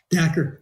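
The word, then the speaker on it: Dacher: and I know that is it is it pronounced Dhaka Kelner? Dher. Yeah. Der. Yeah. Da Kelner.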